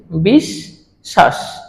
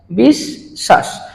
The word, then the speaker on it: বিশ্বাস: আছে কোথায় মাঝে মধ্যখানে মধ্যখানে আছে বলে বফলাটার উচ্চারণ হবে না আর বফলাটা তালবস এর সাথে যুক্ত আছে এই কারণে তালবস এর উচ্চারণটি দুইবার হবে লক্ষ্য করে দেখো আমরা কিভাবে উচ্চারণ করছি বিষ শ্বাস বিষ শ্বাস অর্থাৎ এটাকে